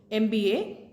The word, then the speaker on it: M: The degrees MBA, MA, MBBS doctor. Because M, when you pronounce the letter M, it is a combination of A and M. It's M.